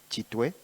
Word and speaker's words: Kitwe: For those who don't know, who are watching, it's just Chitway. It's C H I Chu. But because the Europeans and the Americans didn't know how to pronounce Chitway, so they decided to say Gitway.